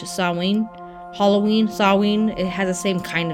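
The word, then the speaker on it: Samhain: switch to s with the h sawing halloween sawween it has the same kind of sounding name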